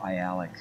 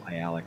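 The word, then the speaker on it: Aialik: google homegate glacier or i alec and i'll just pop up i alec right there for you so you can spell it um that's how you say it as i alec um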